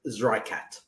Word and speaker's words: Zreikat: There is different ways to pronounce it, but we pronounce it Zreikat.